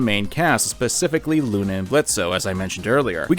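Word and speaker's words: Blitzø: most parents aren't like blitzo at least I hope most parents aren't like blitzo it's the O is silent we do get to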